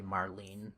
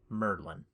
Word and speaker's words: Merlin: Uh that's not supposed to be Marlene like the daughter from Final Fantasy 7. That is Merlin. Merlin the magician.